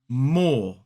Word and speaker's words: more: More. Now, we don't pronounce the E at all in this word, which means that we don't pronounce the R because it's not coming before a vowel sound.